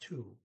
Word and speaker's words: to: she says is 2, which is spelled T-O, and O is primarily pronounced like a double O, ooh, like in T-O-O, 2. Okay, so they just spelled it T-O. It's pronounced 2, and that's the number 2.